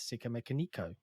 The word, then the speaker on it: Sikamikanico: really great track uh i say sicker mechanical a lot of people just call me sick um but yeah in the red hot chili pepper song they do indeed pronounce it as sika mekoniko so i i think